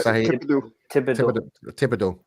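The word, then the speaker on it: Thibodeaux: The Minnesota Vikings go for Kayvon Thibodeau. That's how you pronounce his name, right? Yeah, Thibodeau.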